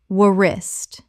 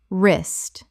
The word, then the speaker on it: wrist: comb comb Word 195 wrist Common mispronunciation wuh-rist Correct pronunciation wrist The W is completely silent. One syllable only.